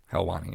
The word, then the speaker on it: Helwani: hence why the moment that, and I'll maybe butcher the name, but Ariel Helwani. Helwani, yep.